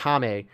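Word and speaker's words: Jaime: towards the Titans and his name is actually pronounced hame uh or hame Reyes but yeah that that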